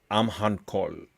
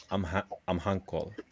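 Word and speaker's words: Amhancholl: It's AE, and it's pronounced Amhankol. Amhankol.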